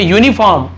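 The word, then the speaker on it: uniform: उसी प्रकार से देखिए यूनिफॉर्म, यहां पर यू लिखा हुआ है लेकिन उच्चारण क्या हो रहा है यहां पर या, यू, तो ये इंग्लिश के यू के बारे में नहीं बता रहा हूं मैं आपको, व्यंजन क ख ग घ वाले में जो य आता है यज्ञ का य, उसका उच्चारण हो रहा है तो यहां पर ए आएगा।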